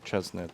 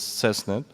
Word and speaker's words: CESNET: yakob shaarik from cesnet I always mispronounce seset sometimes I say chesnet but it's cesnet um and he's going